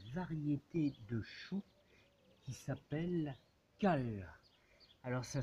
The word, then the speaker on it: kale: de mettre une variété de chou qui s'appelle cale alors ça s'écrit K a l e c'est une vieille